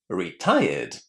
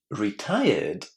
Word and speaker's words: retired: Retired. Retired.